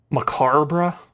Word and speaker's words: macabre: What a macabre souvenir. Macabre? I believe it's pronounced macabre. Macabre. You threw an extra R in there, dude.